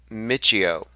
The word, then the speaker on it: Michio: than theoretical physics it's mysticism somebody says it's pronounced Michio what have I been saying thank you for